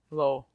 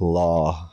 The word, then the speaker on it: Lowe: Lowe. Reverend Lowe. Reverend Lowe. Lowe. Like Rob Lowe. Not like law, how you pronounce low.